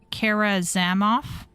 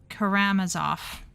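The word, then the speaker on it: Karamazov: Kara Zamoff is actually Karamazoff.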